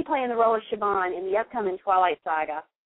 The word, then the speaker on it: Siobhan: Siobhan. She's going to be playing the role of Siobhan in the upcoming Twilight Saga, Breaking Dawn Part 2.